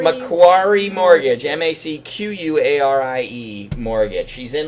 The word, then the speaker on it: Macquarie: lenny it's how do you say it again macquarie macquarie mortgage m-a-c-q-u-a-r-i-e mortgage she's in lenny you guys